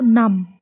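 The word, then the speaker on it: numb: इसमें भी एम भी है। बी साइलेंट हो जाएगा। क्या पढ़ेंगे हम इसको? नम।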